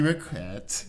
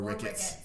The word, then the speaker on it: Richett: Richett. Yes. Not Richett or Ricketts.